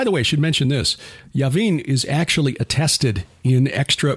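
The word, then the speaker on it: Jabin: heard of this uh that's j-a-b-i-n but yavin would be the pronunciation this says uh j-a-b-i-s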